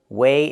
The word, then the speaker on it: weigh: about these two words, weigh and wait. The first word is weigh. Use the long A like day and say. Weigh.